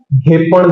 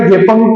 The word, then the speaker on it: घेपण: और अंग्रेजों ने घेपंग को घेपंग लिख दिया। ठीक है? घेपंग देवता को घेपंग करके स्पेलिंग वहां पे लिख दिया है। तो घेपंग या फिर या फिर इसको घेपांग भी पढ़ देते हैं। लेकिन लोकल भाषा में याद रखना इनको क्या बोला जाता है? घेपण देवता।